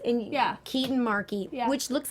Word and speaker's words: Marchi: Just Google Kristen Dellapace and Keetin Marchi, which looks like Marchi. But like Marky Mark, but it's Marquis because it's Italian.